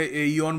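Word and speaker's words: aeon: British English में ए इओन बोलते हैं। अमेरिकन इंग्लिश में इऑन कहते हैं।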